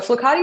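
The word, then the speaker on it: flokati: is it's like to die um okay so flucati is spelled f-l-o-k-a-t-i and let me show you what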